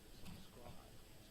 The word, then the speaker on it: subscribe: You do want to stress on the second syllable, subscribe.